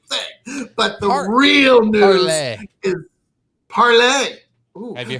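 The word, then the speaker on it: Parler: were it's parlay. It's spelled parlor.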